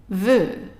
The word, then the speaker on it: veut: So for now, let's do the EU, the combination of EU, pronounced as an E, just like this one here, but a little bit longer. So, que, veut, veut.